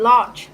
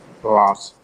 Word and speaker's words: large: The next one is about the pronunciation of the word large. Can you say it again? Yeah. Large. Lost. Yes. Yeah, remember to pronounce the ending sound.